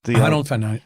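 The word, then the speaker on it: Honnold: I think Alex Honold, how do you pronounce his last name? Honold? Honold.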